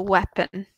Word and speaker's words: weapon: Yeah, so weapon in general, we don't really pronounce the A, so weapon.